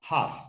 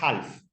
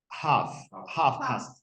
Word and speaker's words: half: todo le pone vale esa l no se pronuncia es una l muda Silent letter hof la de have no es Half hoff la l no se